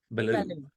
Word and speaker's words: Bello: Belo Belo Belo see I want to say Belo Belo it's French Belo okay Belo